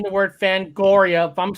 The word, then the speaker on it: Fangoria: get that off okay here we go they spell it f-a-n-g-o-r-i-a oh it's the way you pronounce it fangoria